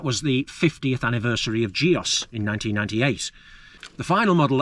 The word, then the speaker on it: Gios: Oh, by the way, I know that the Italian pronunciation of the company is more like Gios, but you know, I'm going to say Gios, you know that.